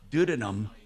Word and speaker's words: duodenum: I had my duodenum, my duodenum. Duodenum? Hey, Doc. Duodenum. Duodenum. Yo. How do you pronounce Duodenum.